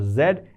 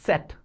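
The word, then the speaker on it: Zett: Last one is not zed. It's set.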